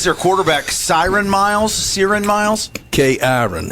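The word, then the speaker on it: Cyrin: K-Iron is how it's spelled. K-Iron. Yes. It's C-Y-R-I-N.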